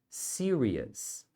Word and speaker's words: serious: você diz It's Nothing Serious Nothing Serious então aqui é Nothing e aqui é esse finalzinho aqui a gente pronuncia com o som de Us Nothing Serious Nothing ser